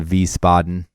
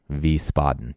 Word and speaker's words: Wiesbaden: Oh, by the way, that's spelled with a W. Just so you know, Wiesbaden, German style W's.